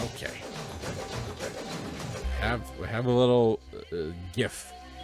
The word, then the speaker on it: GIF: have have a little gif gif of a map. And I'm not calling it a GIF cuz the guy who made it said, "No, it's pronounced GIF."